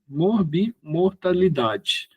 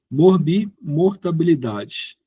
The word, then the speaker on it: morbimortalidade: são um dos dos indicadores, né, de de mor de morbimortalidade. É uma palavrinha meia complicada de se pronunciar certo aqui. Morbimortabilidade. Morbimort. Tá pronunciando errado. Morbimortalidade. Morbimortalidade. Agora saiu.